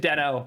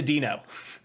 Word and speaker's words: Deno: same with adeno denno was named denno by the creator when he announced it they retroactively changed it to dino it's always hard to